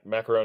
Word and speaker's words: macaron: little bit about what's going on with the macaron macaroon first uh correct my pronunciation there yeah Ma macaron is good uh macaron is a a slightly